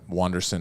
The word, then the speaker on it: Wanderson: uh wanderson FAA uh wanderson is spelled UA like Anderson but with a u on the front uh he does this